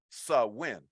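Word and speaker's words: Samhain: night or a day that was known as swin uh this was a a Celtic uh pronounce or Celtic pronunciation uh it looks like it's is spelled s m h a i n but it's pronounced sawin uh when we look at the origin of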